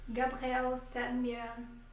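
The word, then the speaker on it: Gabriel Sedlmayr: Dois desses cientistas eram o Gabriel e o Anton, que a Luciana vai pronunciar o nome deles corretamente, que eram dois alemães. Gabriel Semir Anton Dreyer.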